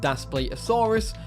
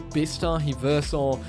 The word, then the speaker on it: Bistahieversor: That being said, this is Bistahieversor, and I've definitely mispronounced that. Meant to say it faster, Bistahieversor. No, I've definitely said that wrong.